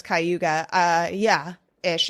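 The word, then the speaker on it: Cayuga: know where that is yeah you pronounced it right well I know it's kuga uh yeah is it's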